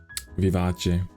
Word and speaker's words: Vivace: Is that how you pronounce Vivace? Vivace.